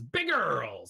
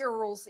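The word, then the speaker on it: BigEarls: Remember, it's pronounced one way, and it's Big Earls. Big Earls, yeah, no space between the two words. It's actually one big. And it's more of a URLL.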